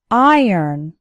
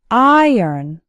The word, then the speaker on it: iron: actually sounds like ern iron iron has two syllables and the stress is on the first syllable so it sounds like iron saya after me iron